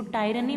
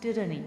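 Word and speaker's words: tyranny: इसको टायरनी मत बोलिएगा, दिस इज प्रोनाउंस्ड टिरनी।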